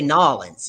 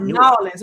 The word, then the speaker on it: New Orleans: No, you gotta say Nolans. It's not New Orleans.